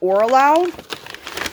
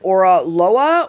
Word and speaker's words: Oraloa: I believe it's pronounced Oraloa.